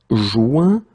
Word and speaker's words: joint: Okay, here you have this O-I-N, ouin sound. Joint, joindre. Okay, same thing here, but then final T not pronounced, so joint. Okay, so joindre, joint.